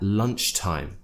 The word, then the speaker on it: lunchtime: So I went to the library at lunchtime. Make sure you get that T in there.